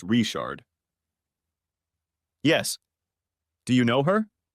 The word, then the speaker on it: Richard: with in Cajun Country Richard is pronounced reard yes do you know